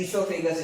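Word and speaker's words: oesophagus: ओ silent है, ईसोफेगस इसको बोला जाता है.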